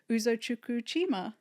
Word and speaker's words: Uzochukwu Chima: So, please welcome to our space Uzo Chuku Chima. Yes. Right. Did I pronounce it correctly?